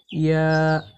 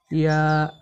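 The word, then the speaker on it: ي: এই ইয়া হরফকে জিহ্বার মাঝখান থেকে নরম করে পড়তে হয়, যেমন ইয়া ইয়া।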